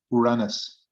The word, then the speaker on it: Uranus: it what about that Uranus is like urine I mean it's like it's a it's an unfortunate name is I actually like I like the way that our Argentinian friends uh pronounce it Uranus huh oh yeah that's